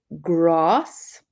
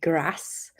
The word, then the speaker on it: grass: they say example also a classic is grass I and in the north they say grass.